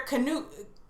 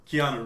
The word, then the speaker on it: Keanu: on your best behavior absolutely you gotta wear canoe i can never pronounce his name right canoe reeves uh-huh keanu reeves keanu reeves sorry i can never get